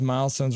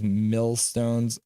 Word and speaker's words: Milestones: fan uh conu 1970 I pronounced Milestones wrong for many years I thought it was millstones I always wondering why